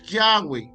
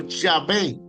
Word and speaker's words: Yahweh: Mucha gente pronuncia Yahweh o Yahvé como reconstrucción común, aunque la pronunciación antigua exacta es de batida por la pérdida de vocalización original en la tradición escrita.